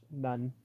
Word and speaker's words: Nun: fish, which means fish, none. Uh, Oh. and and it's spelled like the way you hear it, none, like like a Catholic nun.